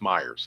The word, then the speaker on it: Mayers: It is pronounced Myers. Okay. I had a feeling it was. I had a feeling it was pronounced Myers, but just spelled weird.